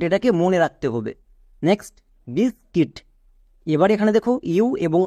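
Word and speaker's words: biscuit: Next বিসকিট।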